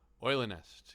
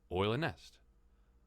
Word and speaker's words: Eulennest: And I did look it up, how to pronounce. And I'm sure I'm anglicizing it quite a bit, but Eule is owl, and nest is nest. It's owl's nest, so it's Eulennest.